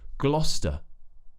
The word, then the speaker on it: Gloucester: to pronounce it is they think it might be like gloss but it's just GL GL Glo so we have another consonant cluster at the start GL GL GL like in England GL we know the St already so that's convenient Gloucester this is actually a